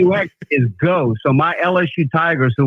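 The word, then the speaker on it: Geaux: G E AU X with the French pronunciation the Canadian French there.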